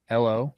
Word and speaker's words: Giancarlo: Did you know his nickname is or his middle name is Giancarlo, but like not like Giancarlo Stanton, like Johncarlo.